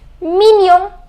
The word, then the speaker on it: mignon: The pronunciation is mignon.